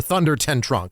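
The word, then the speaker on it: Thunder-ten-tronckh: So we start at a place called Castle Tunda Ten Tronk, or Thunder Ten Tronk is how they say it here, in Westphalia in the Holy Roman Empire, which was none of those three things.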